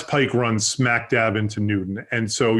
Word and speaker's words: Newton: Everybody thinks it's Newtown, but it's pronounced Newton. And so the Mass Pike runs smack dab into Newton.